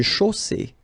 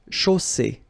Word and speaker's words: chaussée: Une chaussée. Okay, here, final not pronounced. And then you get the double S between two vowels, so it's really strong. I mean, the S is s. Okay, so une chaussée.